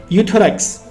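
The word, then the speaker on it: Euthyrox: उसका नाम क्या है यूथस यहां पे गाइस ई साइलेंट है सिर्फ यू पढ़ते हैं हम थायरॉक्स 100 के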